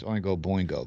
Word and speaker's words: Oingo Boingo: It's Oingo Boingo. But no, okay. I think it's actually supposed to be pronounced Oinga Boinga, and right? Yeah, but the popular pronunciation is Boingo.